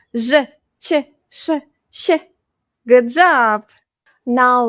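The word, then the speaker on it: ч: Ch. Like in "chimney". "Chimney".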